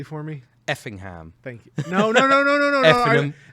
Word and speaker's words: Effingham: The hour-long drives from Cape Girardeau, Paducah, Effingham. Yes. Say it correctly for me. Effingham. Thank you. No. Effingham. Like your correct way, not Effingham, not the Americanized way.